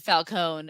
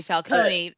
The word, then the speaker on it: Falcone: i've read something that us americans pronounce it falcone italians say falcone and i keep thinking